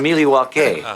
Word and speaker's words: Milwaukee: Our favorite, Milwaukee. Actually, it's pronounced Milwaukee, which is Algonquin for the good land.